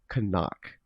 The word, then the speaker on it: CNOC: I thought it was so it is appropriately pronounced kanak right yes that is correct okay okay uh